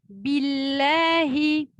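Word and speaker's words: بِاللَّهِ: A'udhu pour billahi, bi. Donc, c'est une vraie kasra, bi, pas b, bi. Donc, parfois ici, on peut être influencé par notre dialecte. Donc, on dit b, billahi, c'est bi, billahi, a'udhu billahi, hi, une vraie kasra ensuite.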